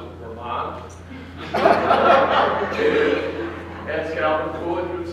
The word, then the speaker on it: Vermont: We prefer to pronounce it Vermont.